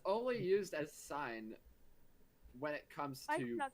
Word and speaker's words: sine: Well, that's pronounced sign.